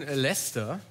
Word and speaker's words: Leicester: Der Verein Leicester ist ja in den Händen eines... Jetzt hast du das richtig ausgesprochen. Ja. Danke. Der Verein Leicester ist in den Händen eines thailändischen Millionärs.